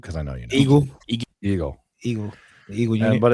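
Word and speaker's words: Igel: Eagle.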